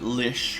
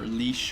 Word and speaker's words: lich: with that stupid stupid Lich all right and I do realize that some people pronounce it Lish or leash or something like that it's it's one of